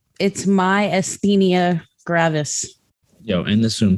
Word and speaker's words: gravis: gravis. Wait, Eric. I heard it. Myasthenia gravis. Yeah, but I still don't know how to say it. My stevia granis. gravis. It's a V.